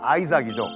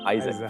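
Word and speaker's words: Isaac: 이삭, 영어 발음은 아이삭이죠. 아이작.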